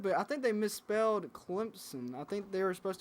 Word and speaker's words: Clemson: I thought it was always with a P. I thought it was always a P in Clemson. CLEMPSON. Yeah, Clemson.